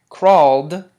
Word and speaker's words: crawled: the T sound talked crawled takes on the D sound crawled you can't say